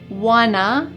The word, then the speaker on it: wanna: We don't wanna, here we're gonna combine want to become wanna be late.